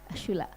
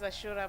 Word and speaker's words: Ashura: i'll start with you asha ashula i got her name wrong sorry hi hello my name is ashura i'm the founder of